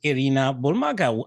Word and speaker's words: Irina Bulmaga: Actually, the original pronunciation is Arena Bulmaga.